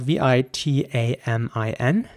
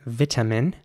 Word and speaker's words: vitamin: is spelled v-i-t-a-m-i-n and in British English it would be pronounced vitamin vitamin with an e sound for the I there at the beginning vitamin and a very strong T sound vitamin in American English the I at the beginning would be pronounced like an I so vitamin and the T would be pronounced very soft in my opinion a very soft tea vitamin almost like a D vitamin so vitamin and vitamin